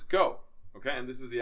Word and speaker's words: Geau: go axiem tennis backpack so go is g-e-a-x pronounce go okay and this is the axiom backpack so